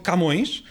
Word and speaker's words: Camões: Temos também o próprio Camões, que nós dizemos Camões e não Camões, mas a sílaba tónica é o ões.